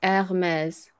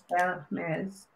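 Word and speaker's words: Hermès: You don't say the H. The H is silent. So it's Hermes. Hermes.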